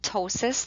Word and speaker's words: ptosis: top left is called ptosis the p is silent and this refers to